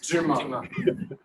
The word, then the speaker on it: Dumas: I pronounce it as the French accent. Dumas.